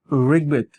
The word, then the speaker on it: ঋগ্বেদ: এটার উচ্চারণটা হবে ঋগ্বেদ, ঋগ ঋগ বয়কারে বেদ ঋগ্বেদ।